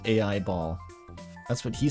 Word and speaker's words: Aiba: It is pronounced AI ball.